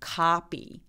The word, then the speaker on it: copy: copy 이렇게요. 따라오고 계시죠? copy. 맞아요. copy. 강세 뒤에 오는 크트프 소리들이 약간 된 소리가 나서 copy라고 발음합니다.